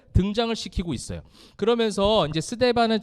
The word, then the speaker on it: 스데반: 서대반 이렇게 하죠. 서대반이 아니고 스데반. 목사님 발음이 잘 돼요, 그죠? 스데반이에요, 스데반.